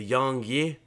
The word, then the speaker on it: YongYea: goes to a youtuber by the name of young yeah or young yeah as a name his name is pronounced on youtube i'll have a link